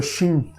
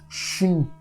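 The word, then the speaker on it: שין: dentes de um dente agora vamos pronunciar letra xin xin provavelmente a única letra hebraico onde têm essa formação de nossa a nossa boca gente coloca os dentes juntos os dentes e só para o ar che che que pra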